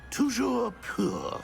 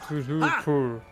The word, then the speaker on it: Toujours pur: Toujours pur. Toujours pur.